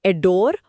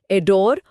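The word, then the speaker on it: adore: और प्रोनाउंसिएशन में भी बहुत हल्का सा फर्क है। एडोर और अडोन, जहाँ एन पे हल्का सा जोर आता है।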